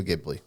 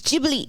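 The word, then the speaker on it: Ghibli: not that's okay just say it uh Studio gibli it's jibi ji okay it's ji anyways not important but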